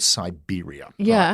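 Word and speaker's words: Cyberia: there's also a very interesting book called Siberia it's spelled c y b e r i a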